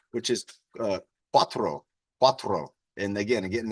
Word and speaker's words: cuatro: The pronunciation is 4, which is cuatro. Cuatro. And again, I'm getting that ro. Cuatro instead of quattro.